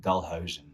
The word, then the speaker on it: Dalhuisen: yeah okay so uh my name pronounced in dutch it's dalhausen that's it it's a duff it's a tough one to say for non-dutch speakers yeah and the people